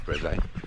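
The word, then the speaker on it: Brézé: It looks like Breeze, but I think it's Breze.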